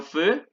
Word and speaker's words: feu: Ojo, recuerden que AU es igual que esta, se pronuncia O y EU se pronuncia E.